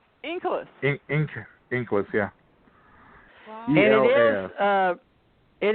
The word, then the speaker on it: Inkelas: How do you pronounce that? Inkles.